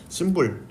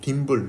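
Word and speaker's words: thimble: 자, 이쪽 부분을 심불, 뭐 딤불, 심불, 뭐 읽는 거의 발음 차이라고 보시면 될 것 같고요.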